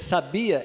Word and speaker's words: sabia: não é assim porque a tônica a tônica que sabia é o be sabia é a tônica então